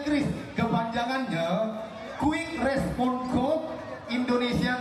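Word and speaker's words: QRIS: 3 orang mengecekkan Kris, seorang mengecekkan Kiris. Nama benar. Hah? Kiris. Kiris. Kakak? Hah? Kris. Nama benar Kris. Memang huruf awalnya Q, tapi bacanya Kris.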